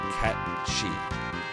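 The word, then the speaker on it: Cait Sith: The original Gaelic pronunciation is closer to Ket-Shi. Oh, interesting. I didn't know that. Technical proper pronunciation is Ket-Shi. But FF7 goes with Kate Sith.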